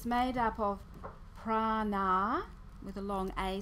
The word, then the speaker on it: prana: It can have two meanings because it's made up of prana, with a long A sound on the end, and ayama, or prana, with a long A on the end, and yama.